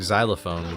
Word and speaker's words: xylophone: So, uh, a xenophobic xylophone would be a crazy that sounds like a king gizzard song. And then it still makes the Z sound, which is interesting.